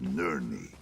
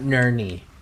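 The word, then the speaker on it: Nirn: Such potential from the veins of Nerie. It's Ner, not Nerie. Ner big dog.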